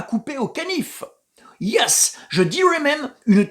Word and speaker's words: canif: qu'il y a une tension à couper au canif. Yes, je dirais même une tension à couper au berger allemand. Non, John, je n'ai pas dit une tension à couper au caniche, mais au canif.